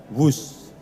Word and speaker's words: Whoosh: operasi optimal sistem hebat sekali lagi w h o o s h tapi membacanya wus selain memiliki nama yang